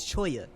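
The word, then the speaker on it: cholla: in the southwest so I understand the correct pronunciation of this word is Choya it's a type of wood price how about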